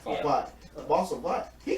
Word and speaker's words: Vought: The boss of Voss, am I saying it right? Vought.